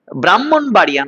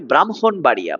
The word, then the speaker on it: ব্রাহ্মণবাড়িয়া: ব্রাহ্মণবাড়িয়া নয়, ব্রাহ্মণবাড়িয়া, ব্রাহ্মণবাড়িয়া, ব্রাহ্মণ নয়, যুক্তবর্ণ ভাঙলে হ ম, উচ্চারণে ম হ, ব্রাহ্মী লিপি, ব্রাহ্মী লিপি, ঠিক আছে।